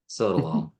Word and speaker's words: sotalol: Sotalol. All right. I've heard you say it. I should be recording the way you say these. I'm scared to stop it. Okay. So think of the sotalol as just all it does is slow down